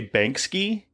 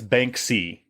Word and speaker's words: Banksy: it out to you you say banki when you're talking about it's Banky banki like b a n KS y Banky oh really